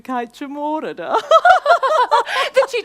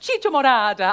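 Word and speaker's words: chicha morada: the time sampling the kaichamorada Morada I'm sorry it's pronounced Chicho Morada I have a real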